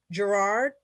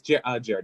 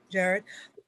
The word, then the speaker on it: Jared: Yes, Jared is how you pronounce my name. Jared.